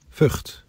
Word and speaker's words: Vught: Actually, I found the pronunciation. You want to hear it? Vught.